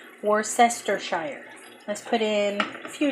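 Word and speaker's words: Worcestershire: put in some more sester Shire it's how you say it that's how it's spelled more sester Shire let's put in a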